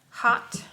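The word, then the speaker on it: haute: Hot, and it's spelled H-A-U-T-E.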